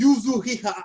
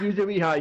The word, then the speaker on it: Yuzuriha: My name is Yuzuhiha. I forgot, but Yes, Yuzuriha. You had it pronounced right.